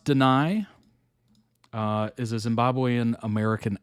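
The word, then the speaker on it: Danai: I think it's pronounced Deny.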